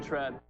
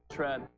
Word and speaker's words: tread: D 발음 안 할 거고요. 트르 발음 한 번에 tread 이렇게 돼요.